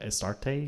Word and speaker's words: Astarte: Yeah, Astarte, yeah. Astarte, I didn't know how to pronounce it, but um or Ishtar or Okay.